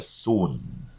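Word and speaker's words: Xun: lines that is the soon sometimes it is spelled x u n sometimes it's spelled s-u-n but it is read as soon not sun what is it bingo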